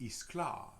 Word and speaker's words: Gisclair: That was the way it was pronounced, Isclar. Rather than just Gisclair, it was pronounced Isclar.